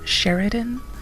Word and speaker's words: Seireadan: and it's sister world Seireadan. Technically those should be pronounced Say-or-Shah and Sher-ri-dan, if we go by the original gaelic terms, Scottish and Irish respectively, but the issue is